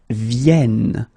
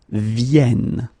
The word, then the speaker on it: viennent: And the last one, because you've got this double N here, you need to pronounce this like eh. And that's the reason why you should pronounce it viennent, viennent.